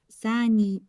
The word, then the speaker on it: san: Hanbia shoputze sani kopu nyaronyo. The only thing I would change is this is san.